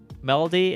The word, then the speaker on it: Meredy: Melody is how she's pronounced in the dub, but her name is spelled Meredy in Japanese, so I don't know what it is.